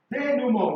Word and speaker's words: denouement: In literature, we call it denouement. What do I call it? Denouement. But it is spelled denouement. You understand? Denouement. Denouement. It's a French/Latin word.